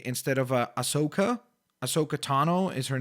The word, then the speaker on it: Ahsoka Tano: also do want to mention that I sometimes mispronounce Ahsoka's name because I say instead of a ahsoka ahsoka tano is her name I say ahsoka I don't